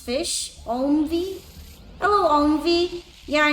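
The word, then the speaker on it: Ghoti: be my second one did you know that goie is pronounced fish Omi hello Omi yeah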